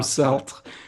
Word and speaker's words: Sartre: kill myself because Jean-Paul Sartre about the. So there's no you don't pronounce the R then. It's not Sartre. I thought it was Sartre.